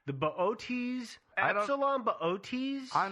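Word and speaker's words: Boötes: ots i'm not sure i just call it booties myself but i know booties is incorrect no um it's a double star in the ot's constellation uh it's got that what is the little double dot over the e it's got the ooh lot on the second o which makes it so hard to pronounce yeah but what here's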